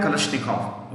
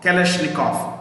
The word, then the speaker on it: Kalashnikov: It was invented by a man called Mikhail Kalashnikov. Okay, keep that guy out. AK is automatic. A for automatic. K for Kalashnikov. Kalashnikov. Kalashnikov. KOV. KALASHNIKOV. V को F से pronounce करते हैं.